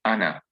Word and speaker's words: ana: how i translate it i wrote it as anna not anna even though the it is i alive over here but the ali is never pronounced so i transliterated according to the pronunciation so that you can pronounce it correctly so anna i mean whether you're a man or a woman in both cases you'll say ana and then you've got